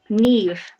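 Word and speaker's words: Niamh: And because I like to be that kind of person, Neve is spelled Naoimh for the note takers. Can you pronounce it one more time for me? Neoimh? Yes, Neve.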